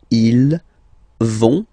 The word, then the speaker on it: vont: So ils vont, final T not pronounced, ils vont, and then feminine form, elles vont.